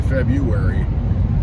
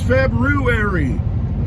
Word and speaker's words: February: last day of february february that's how it's spelled anyway most of us say february but it's february last day short month